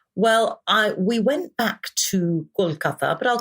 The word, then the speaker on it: Kolkata: It's now Kolkata. Kolkata, yes. So it's now pronounced, it's now been given the Bengali name and the Bengali pronunciation. Well, we went back to Kolkata, but I'll call it